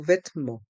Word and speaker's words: vêtements: Il y a le son en à la fin du mot vêtements, avec les lettres E et N.